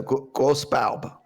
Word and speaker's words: Grosse Barbe: It's a Grosse Barbe.